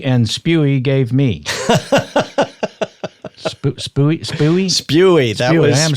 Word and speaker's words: Spewy: Spewy.